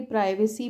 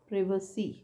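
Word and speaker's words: privacy: फिर ये प्रिव प्रिवेट हम इसको जनरली प्राइवेसी पढ़ते थे पर यह क्या है correct sound is प्रिव प्रिव स प्रिव स ऐसा है ना तो इसको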